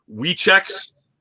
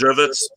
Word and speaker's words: Żywiec: The W is a Z, so it's like most people will see Wieczeks, which is like one of the most popular beer in Poland. It's actually pronounced Żywiec, means good night.